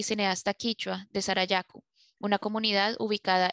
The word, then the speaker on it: quichua: Una corrección de pronunciación de la intérprete es quichua, no quechua.